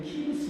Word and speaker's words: 키루스: 자, 카산다네를 우리는 키루스 2세라고 이야기합니다. 우리가 역사 시간에 배운 것은 고레스라는 발음을 배우지 않고 키루스 2세를 배웁니다. 그래서 키루스 2세가 고레스 왕이다 이렇게 여러분들이 이해하시라고 적어놨어요.